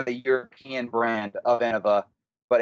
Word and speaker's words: Innova: I just learned is I think I've been saying the name of in 'va incorrectly in my whole life because I always say Innova is that not the not the right way to say it think of innovation innovations yeah it makes way more sense to say that that way I've just been saying